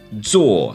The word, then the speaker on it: 坐: 坐 Z-U-O, fourth tone. 坐 sit.